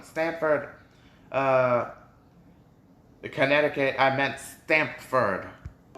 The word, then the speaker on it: Stamford: culture oh is it wait stanford it's pronounced stamford hold on hold on i pronounced it stanford my bad when i said stanford universe um stanford uh connecticut i meant stamford wait wait wait okay so this is